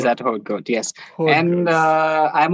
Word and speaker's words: Haute Goa: He Hot pronounces Goat. that Haute Goat.